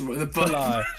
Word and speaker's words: Belal: Yes, Belal. Yeah, well, pronunciation ain't the name of the game.